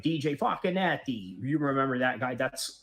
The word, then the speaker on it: Facchinetti: DJ Facchinetti. You remember that guy? That's literally how you pronounce his name.